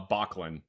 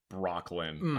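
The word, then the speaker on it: Böcklin: So, it's Island of the Dead by Arnold uh Bachan, not not Brocklin.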